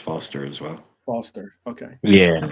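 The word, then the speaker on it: Forster: on their own all right it was uh Forester no way Razer Foster or Forester Forester Forester Forester it'ser yeah I heard him say the one is silent it's actually just pronounced Foster as well Foster okay yeah that's fine yeah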